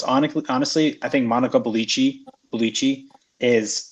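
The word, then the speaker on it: Bellucci: two big ones hon honestly I think Monica bichi bichi is not necessar this how how do you say that one beluchi beluchi yeah good Lord you know why she's in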